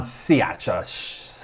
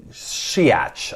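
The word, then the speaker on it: Shaich: chairman of panera bread ron siacha i always get that wrong shiats i think how you say it i asked him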